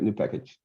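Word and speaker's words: nupkg: unfriend me now but i'm i'm sticking with new package sorry it's yes that's like it's if you if you if you look up the pretty imagination of that word it says new package look up where what do you mean what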